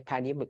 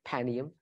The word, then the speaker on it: Panium: from ancient history I say panium I agree with you proper way to say it panium um so Rafia and